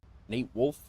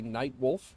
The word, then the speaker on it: Nate Wolf: Nate Wolf is the way you say my name. A lot of people say Night Wolf, and but it's Nate Wolf, N8, and N-A-T-E.